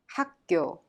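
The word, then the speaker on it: 학교: job let's look at the pronunciation is pronounced hakyo the final consonant kyog in hak the first syllable means the soft k sound kyok in kyo and turns into a strong tension sound thereby pronounced hakkyo good job at this time we will take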